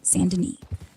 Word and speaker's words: Saint Denis: Saint Denis. Pronounced Saint Denis.